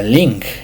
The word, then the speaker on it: 靈: El primero es el tono interrogativo, que se va a encontrar en la palabra ling. Ling, vamos a usar el tono de interrogación como si se estuviera preguntando la palabra ling.